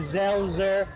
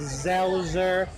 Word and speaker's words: Selzer: Selzer. In German, it's Selzer. In America, the Americanized pronunciation is Selzer.